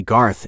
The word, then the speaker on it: Garth: "Why don't you call me Garth instead of policeman?" "Garth?" Trey cocked his head to the side. "Your name is Garth?" "Rhymes with barf," teased.